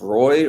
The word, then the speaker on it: Roy: players in the league is is this one pronounced Roy or W this is Roy Matt Roy Matt Roy I'm pretty the one on the golden ice is Nicholas W yeah so then this is pronounced Roy I like I meant